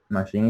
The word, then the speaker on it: machine: Machine is similar. It's written with a C, but it's pronounced like with an S.